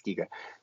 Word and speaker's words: Giga: I always want to say his last name makes me want to say Chiga, but it's not. It's Giga. So apologies for that.